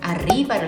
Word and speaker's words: arriba: 즉 혀가 이 입천장을 조금 대면서 진동을 통해서 바람과 진동입니다. 이 바람을 푹 내쉬셔야지 이렇게 되잖아요. 근데 치아가 닫히면 바람이 나오다가 탁 치아에 막혀요. 그래서 르 하다가 짧게 끝나는 거죠. 그러니까 르 이렇게 하시는데 그게 아니라 좀 발음을 이렇게 길게 내세요. 그러니까 바람을 길게 이렇게 내뱉으세요.